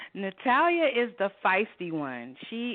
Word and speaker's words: Natalia: We pronounce it Natalia. That's how her name is in the book. Natalia is the feisty one.